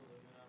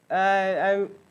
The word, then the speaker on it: aluminium: Why is it sometimes called aluminum and sometimes called aluminium? Differences in pronunciation. I won't argue over what. I think aluminium is technically correct, but yeah.